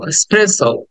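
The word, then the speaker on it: espresso: ওকে দেন 27 এসপ্রেস স্প্রেস এক্সপ্রেস লাস্টে একটা ও sound আছে স্প্রেস স্প্রে সো স্প্রে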